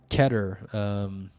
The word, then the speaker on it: Keter: um let's see uh ketter better so you could have rhymed ketter with anything that rhymes with better which is a lot